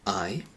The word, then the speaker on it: hay: things or many things, it just stays the same and it's pronounced I.